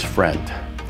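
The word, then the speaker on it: Frient: Next up is Friend. Friend is pronounced like friend, with a T in place of the D.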